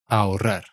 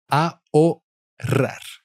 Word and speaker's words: ahorrar: Ahorrar ahorrar. So you never pronounce the H and there is double R.